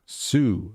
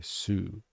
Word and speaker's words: Sioux: I believe it's pronounced Sioux. Okay, Sioux. Thanks. Lakota Sioux encampment. Endless cycles of exploitation. Well, an ALP premier. Sioux, like the dinosaur. Sioux. Ah, okay, Sioux.